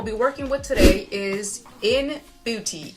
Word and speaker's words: ENBUTY: working with today is in beauty e-n-b-u-t-y i had to spell it out because i want to make sure that i'm saying it right look at this beautiful